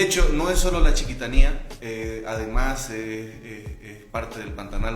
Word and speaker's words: Chiquitanía: ¿Qué es la chiquitanía o la chiquitanía? Porque tiene acento en la I.